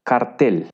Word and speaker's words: Kartell: Bueno, tiene un origen alemán y la palabra alemana es cartel. Básicamente se pronuncia igual, pero se escribe Kartell.